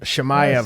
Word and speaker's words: Chimaev: scored the 17-second who you know how to pronounce his name. Chimaev.